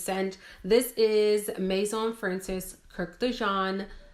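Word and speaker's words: Kurkdjian: This is Maison Francis Kirk de Jean. I believe the D is silent.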